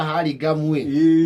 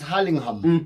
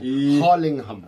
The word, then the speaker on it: Hurlingham: Iguo andu makiuga Hurlingham but the pronunciation is Hurlingham. Yes. There is a ham at the end. Hurlingham.